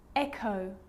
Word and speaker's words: echo: occasions it's not pronounced the H is silent so it's choir choir echo echo with a g-ghost ghost and